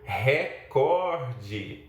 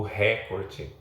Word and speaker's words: recorde: Acontece também um equívoco quando a pessoa diz que outra pessoa ultrapassou todas as marcas, então ela tem agora o recorde, por exemplo, e não o recorde, como nós pronunciamos.